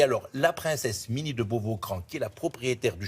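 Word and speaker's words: Beauvau-Craon: Ça s'écrit Cran, mais on dit Beauvau-Cran, parce qu'il n'avait pas de meubles, il n'avait rien.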